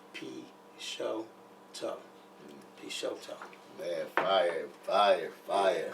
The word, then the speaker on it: Peixotto: to pronounce the x because the x is silent it's pronounced p show tough piece man fire fire